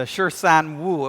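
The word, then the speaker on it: 十三五: All right, the Shirsan Wu. It wasn't pronounced that Shirsan means 13. Wu is 5.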